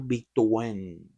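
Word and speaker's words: Victorin: Pero el apellido se pronuncia en Martiniqueño Victen, papi.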